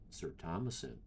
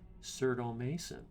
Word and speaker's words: sirtomasin: find myself doing it I've got a name that I thought was a no-brainer to pronounce sir Thomason but uh like I get a lot of people call me cerdo Mason and I'm okay with that